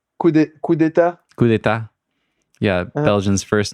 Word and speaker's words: coup d'état: Coup d'état.